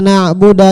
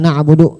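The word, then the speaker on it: نَعْبُدُ: salah ya kan iyaka na'buda iyyaka nastain dalnya pakai fathah harusnya pakai damah iyaka na'budu dibacanya iyaka na'buda maknanya kan berubah maknanya kada kada batal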